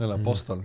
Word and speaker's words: El Apóstol: political satire film called El Apostol. Is that how you say it? El Apóstol.